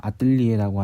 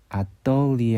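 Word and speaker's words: atelier: 그리고 이거 우리가 흔히 뭐 아뜰리에라고 하는 그 작업실, 그거는 여기 리에 할 때 이 부분이 글라이드이기 때문에 아떨리에 할 때 떠 부분이 실제로는 이렇게 입술을 동글게 해서 뚜처럼 돼서 아뜰리에가 된다는 것이죠.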